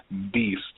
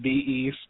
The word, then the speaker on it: b.east: up for this podcast it's pronounced Beast not be East not be Dottie's Beast